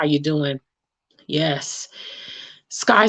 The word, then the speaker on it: Sky: Don't make the mistake of me saying ski. I know it looks like ski. Phonetically, it is ski, but she told me it's Sky and her mama spelled her name like that.